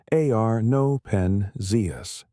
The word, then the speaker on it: Arno Penzias: Arno Penzias, pronounced Arno Penzias, and Robert Wilson, two radio astronomers working at